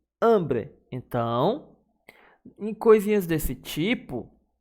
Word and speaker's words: hambre: E de hambre A sílaba forte também é hambre.